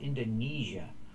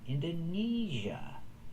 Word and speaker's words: Indonesia: Long e like green beans. Indonesia.